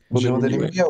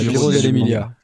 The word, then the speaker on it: Giro dell'Emilia: Giro dell'Emilia, ouais. Voilà, Giro dell'Emilia. C'est très mauvaise prononciation que j'avais.